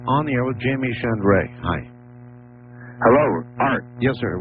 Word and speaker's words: Shandera: Let me say it correctly. Shandera. That's well, I don't want close. to disrespect him. Is that correct? Shandera. Yes, thank you.